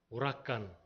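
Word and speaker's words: Huracán: 안 배워요 허리케인이 있죠 그 허리케인이 영어식 발음이야 오락관 오락간이에요 오락가 h를 쓴이 사람들은 쓰지 않죠 자 태풍의 눈이 가운데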